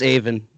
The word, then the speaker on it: Avin: Yep, it's Avin.